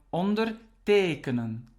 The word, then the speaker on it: ondertekenen: To sign is ondertekenen. Ondertekenen. As you can see now, the stress is on the second part.